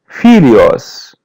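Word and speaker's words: filhos: Felios. Felios. The her is pronounced as Y.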